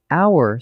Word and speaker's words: hour: Hour starts with a consonant letter, but the H is silent, so it sounds like hour, a vowel sound, so it's an hour.